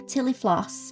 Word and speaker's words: Tillie Floss: The name Tillie Floss is a little play on words. Tillie rhymes with Millie, and Floss is Florence's nickname, so it felt very